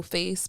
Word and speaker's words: FVCE: And it's funny because it's like, it's Miss Scar No Face, but the face is spelled FVCE.